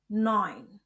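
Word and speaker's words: neun: Kombinasi huruf ch dibaca seperti dalam tenggorokan kh dan kombinasi huruf e u dibaca oi jadi sib akh noin.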